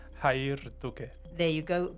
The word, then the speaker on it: Jair: going to welcome my first guest which is hair. Hello hair. How are you doing? Good. Fiona. All right. So, it's hair. But I know I'm not saying that exactly correct. How should it be pronounced? Hayer.